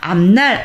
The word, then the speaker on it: 앞날: 앞날 앞무는 피읍이 비읍으로 음끝이 된 다음에 뒤에는 니은의 영향을 받아서 이렇게 비음화가 돼서 암 미음받침이 발음이 되죠.